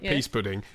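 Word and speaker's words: pease pudding: of the question but it's pronounced peas or right whatever p a e right peas pudding as an on sale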